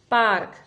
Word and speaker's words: पार्क: शब्द आ गया है, पार्क। ये रेफ की मात्रा है, ठीक है, जो कि प और क के बीच में जिसका उच्चारण किया जाएगा। पा और क के बीच में र की आवाज आएगी।